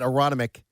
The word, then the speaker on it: Aronimink: Everybody out at Aronimink I don't pronounce the second N cuz I'm from Delco.